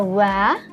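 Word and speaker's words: は: tulisan h h nah tulisan H ini ini kita baca wa Jadi huruf Hiragana H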